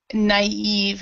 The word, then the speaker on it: naive: Okay, and then this word right here is the naive. So naive is how we pronounce that.